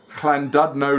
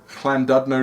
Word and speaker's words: Llandudno: pronunciation, because I believe the double L is like chla rather than just la. So it's Llandudno Limit. So it's Llandudno and No Limit. Llandudno Limit.